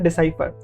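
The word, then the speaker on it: decipher: डिसाइफर इसका सही pronunciation है, बहुत सारे लोग डेसिफर बोलते हैं, लेकिन इसका सही प्रोनाउंसिएशन है डिसाइफर।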